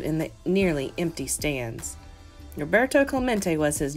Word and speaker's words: Roberto Clemente: clawmont it echoed in the nearly empty stands Roberto Clemente was his name and this is pronounced Roberto Clemente as if to introduce himself Roberto smacked the